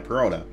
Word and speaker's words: Perona: Yeah, Perona.